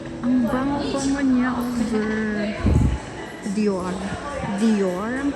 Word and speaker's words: Dior: Dior ang pagka-pronounce.